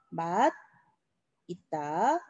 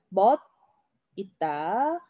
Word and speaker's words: 맛있다: 그럼 원칙적으로는 음끝을 먼저 해야 됩니다. 그래서 맛, 있다, 음끝 하고요. 그 다음에 올려서 맛있다. 이렇게 발음을 해줘야 돼. 얘도 마찬가지로 멋, 있다. 그리고 멋있다. 자, 요렇게. 그럼 원칙적으로는 요렇게 하는 게 맞는데요. 많은 사람들이 맛있다 또는 멋있다 요렇게 발음하시는 분들이 또 많아요. 그래서 맛있다와 멋있다 요 두 단어는 둘 다 발음이 맞습니다. 맛있다도 맞고 맛있다도 맞고 멋있다도 맞고 멋있다도 맞고 둘 다 맞는 발음이에요.